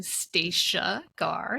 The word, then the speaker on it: Stacia Garr: absolutely well thank you for having me I'm staa gar staa like Anastasia no Anna uh for those